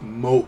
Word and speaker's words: moe: entertainment center on characters to possess such traits pronounced moe a washer is more home you know so